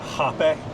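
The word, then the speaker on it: hapé: sanga and then hape which is spelled like rape but it's got like one of those little asterisks over the e um it's called hape.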